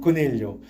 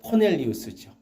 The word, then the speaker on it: 고넬료: 우리식으로 하면 고넬료, 영어 발음으로 하면 코넬리우스죠.